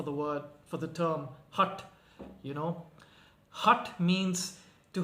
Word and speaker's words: Hatha: around the word itself hath you know that's how you would say it in english but if you were to pronounce it in sanskrit okay or in a more uh indonesia sort of pronunciation you you would say hut which basically means stubborn